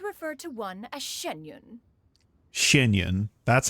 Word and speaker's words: Xianyun: Xianyun.